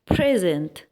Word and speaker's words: present: لو حطينا الستريس هنا يعني ضغطنا على الكلمة وقلنا present دي ممكن تكون adjective يعني صفة معناها الحاضر، وطبعا العكس بتاعها هتبقى absent يعني غائب.